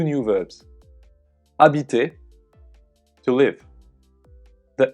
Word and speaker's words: habite: Notice that when a verb starts with a silent H, like this one, it is possible to connect the words together. This is called a liaison.